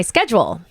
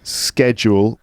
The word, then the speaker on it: schedule: an S oh my schedule right schedule whereas I would say do you know the schedule schedule shed schedule Oh I say schedule but it's it's funny